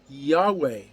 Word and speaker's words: Yahweh: His name in Hebrew is spelled Yod-He-Vav-He, or English transliteration YHVH, and we pronounce it Yahweh.